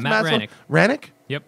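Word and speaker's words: Hranek: Lastly, I got this book by Matt Hranick. Is it Hranick? Do you know how to pronounce Matt Hranick? Hranick? Yep. Is the H silent? Pretty much silent. There's a little bit of a Hranick.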